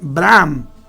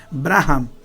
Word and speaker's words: Abraham: el tabernáculo graham perdón abraham es que la h la pronuncia lo americano como j entonces tiene que leerse braham lugar donde escogí a